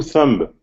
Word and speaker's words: thumb: and two a two thumb that's right two thumbs two thumbs uh and um okay as in climb or numb or comb the be is silent completely silent you don't hear it at all uh okay of course